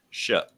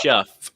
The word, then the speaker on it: Shough: Tyler Shuck. It looks like Shuff. It looks like Shuff, but it's Shuck, like shucking corn.